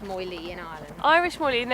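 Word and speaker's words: Moiled: an Irish Moi LED yeah more than it's pronounced moyli in Ireland Irish Molly it's about he's very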